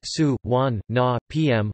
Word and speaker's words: Suvarnabhumi: Suvarnabhumi Airport Thai, de Zakhajan Suvarnabhumi RTGS, Suvarnabhumi, pronounced Su, Wan, Na, PM, listen, IATA, BKK, ICAO,